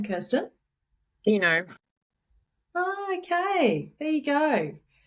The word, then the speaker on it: Coutinho: Dino. Oh, okay. There you go. Football player. What was that? It's the same name as the football player.